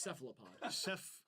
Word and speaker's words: cephalopod: It's cephalopod. Cephalopod. I still can't You're just mad because you aren't white. even fucking pronounce it.